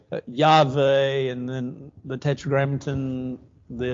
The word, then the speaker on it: Yahweh: God's name, yes, under a great debate, but God's name by a tremendous amount of Hebrew scholars is, while we pronounce it Jehovah, is actually Yahweh, and then the Tetragrammaton,